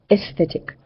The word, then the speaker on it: aesthetic: So the the pronunciation is aesthetic. The A and the E become one sound.